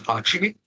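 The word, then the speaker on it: 八: In Japanese, 8 is pronounced as hachi.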